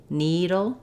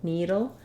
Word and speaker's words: needle: Within the word needle, we have first syllable stress. So my letters EE say E, like in need, or C, needle, needle. And then the letters LE, what we have there is what's called a syllabic L.